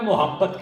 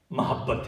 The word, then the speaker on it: محبت: خیال رکھا جاتا ہے۔ سارے بندے محبت کہتے ہیں، حالانکہ لفظ محبت نہیں، محبت ہے، میم کے اوپر زبر ہے، لفظ محبت۔ تیری کملی سے محبت